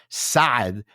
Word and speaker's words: Saad: in the happiness book, my last name, which I'm going to pronounce it in Arabic, Sad is is in a sense I was predestined to write this book because it refers to felicity and happiness in Arabic.